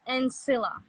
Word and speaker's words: Ansila: means peace in French it's pronounced and Sila and just Anda yeah just and Sila casually okay cool cool cool